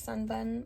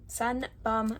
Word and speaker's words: Sun Bum: to my sister because I know she loves sunburn Sun Bum I keep saying it wrong it's like a